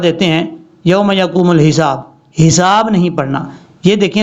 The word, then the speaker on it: الحساب: جلدی میں وہ پڑھ دیتے ہیں یوم یقوم الحساب، حساب نہیں پڑھنا، یہ دیکھیں لام کے بعد جو ہا ہے یہ ہا بریک ہے، اس کو بھاری ساؤنڈ کے ساتھ نہیں پڑھنا، کلیئر کر کے پڑھنا ہے، یوم یقوم الحساب،